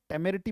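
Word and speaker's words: temerity: टेररिटी पढ़ा जाएगा। Right? Spelling है टी ई एम ई हो गया टेररिटी।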